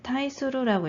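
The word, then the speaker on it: 対する: 이제 타이수루라고 읽으시면 돼요.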